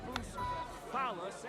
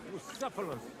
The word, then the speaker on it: Bucephalus: What kind of name is Bruce Phallus anyway? It's pronounced Bucephalus.